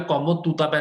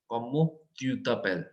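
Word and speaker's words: comment tu t'appelles: you is EU, तो मैं यहाँ पे कॉमो तूतापेल नहीं बोल रहा, कॉमो तूतापेल नहीं, कॉमो ट्यूतापेल, बिकॉज सी EU मींस ऐसे प्रोनाउंसिएशन है, ट्यू ट्यू ट्यू ट्यू ट्यू ट्यू, कॉमो ट्यूतापेल, कॉमो ट्यूतापेल।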